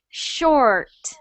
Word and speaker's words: short: When we get that R sound, let's try making it less of a roll. So keep your tongue down when you make the R. It sounds Yes. like this. Short.